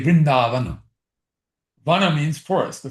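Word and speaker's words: Vrinda: Vinda is spelled V R I N D A. Therefore we say Vinda.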